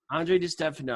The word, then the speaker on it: Andre Di Stefano: so now pronounce your name so I don't mispronounce it yeah it's Andre D stuff Andre de Stefano I want everybody look in the links below